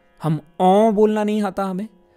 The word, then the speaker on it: ओम: जैसे कि ओम, हम ओम बोलना नहीं आता हमें, ओ पर बिंदी लगा दी जाए तो ओम आता है, ओम, ये हम नहीं बोल पाते।